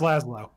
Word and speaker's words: Laszlo: just horrible at pronunciation it's pronounced laszlo is it another last low everybody who joins the